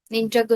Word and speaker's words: Ninjago: ah Ano yung parang Ah vert yung ano Ninja Go ni pa Ninja Go Ninja Go Hindi ko kasi alam yung pronounciation ka ninjo e Ninjago pala Ninjago ninj